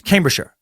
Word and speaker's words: Cambridgeshire: a shire in it it isn't pronounced like the shire in The Hobbit it's mostly contracted to be a short sure with a falling are so Cambridgeshire is pronounced yes yes Cambridgeshire with it with the